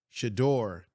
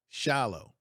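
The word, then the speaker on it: Shedeur: First of all, you got the name wrong. You meant to say Shador, not Shallow.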